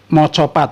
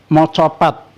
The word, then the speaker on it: Macapat: hasil sastra Hai yang dinamakan Mocopat atau tulisannya Macapat ya saya biasa membacanya Mocopat Apa itu Macapat ya